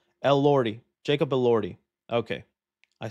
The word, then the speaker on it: Elordi: So it's like Lord, like Elordi. Jacob Elordi. Okay. I said Elordi. Rodeo? Elordi. Elordi. El Rodeo? Someone said. Okay, Elordi. Jacob El Rodeo. Jacob Elordi.